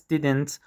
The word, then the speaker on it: didn't: Harry says didn't almost like didn't or didn't didn't with a catch in the throat. Here's the rule. In American English, when a d sound comes right before a n sound like in didn't, couldn't, hadn't, native speakers often replace that duh with a glottle stop or drop it completely.